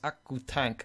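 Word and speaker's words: オクタン: In Japanese, it's pronounced Akutank.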